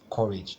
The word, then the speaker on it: courage: nouns that are dbic courage is two syllable so the stress will be on the first syllable so this core part will be the stressed syllable so the answer will